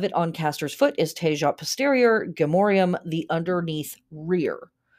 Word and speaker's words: Tejat: Within 2 degrees of it on Castor's foot is Tejat Posterior, Gemorium, the underneath rear. By the by, Tahat is a better pronunciation.